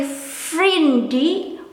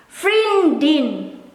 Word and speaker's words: vriendin: In this case, I didn't hear people say vriendie, but they pronounce the N. Vriendin, vriendin.